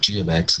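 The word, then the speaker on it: g(x): take F ofx and do this or take G of X and do that and again I'm pronouncing it g of X this first parentheses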